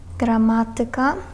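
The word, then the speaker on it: gramatyka: Насправді там акцент у цих наголос у цих словах вони у більшості грецького походження падає на третю від кінця. Якщо рахувати склади, то на третій склад від кінця падає.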